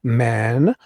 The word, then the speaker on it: mandamus: And Judy Wilkie comes in and says, it's pronounced like Mandamus.